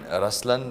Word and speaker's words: Ruslaan: yeah so even in raslan when you say raslan also means the lion it's the attitude of but the right pronunciation is rlan okay there is so